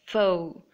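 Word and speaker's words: faux: okay moving on here the X is silent X this forward comes from French and you have to pronounce it as fo o is in mango and it means false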